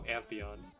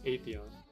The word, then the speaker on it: Atheon: I used to call him Antheon, but Antheon is not the right way. It's not the right way to say it, because Atheon is spelled Atheon, right? But the way I say it is like Antheon, right? Antheon, but it's Atheon. Kind of like the goddess, like Athena, right?